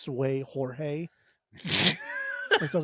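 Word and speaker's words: Seu Jorge: week I think it's Sue Jorge is it Sue I don't think the seu is pronounced sway I think that's actually pronounced Sue okay all right from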